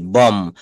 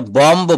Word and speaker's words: bomb: BOMB, বম। এটা বম্ব বলা যাবে না, এটা বলতে হবে বম।